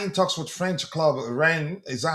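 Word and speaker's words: Rennes: Chelsea I in talks with French club Ren. Is that how you pronounce Ren? What's the correct pronunciation? Ren.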